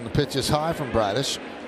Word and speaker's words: Bradish: And they're going to face Kyle Bradish rhymes with Radish.